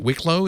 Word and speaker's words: Wicklow: Is it Wicklow? Is that how you pronounce it? That's in Wicklow, yeah.